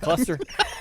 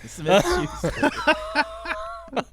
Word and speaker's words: Smith-Schuster: Cluster. His name's a cluster. Smith-Schuster.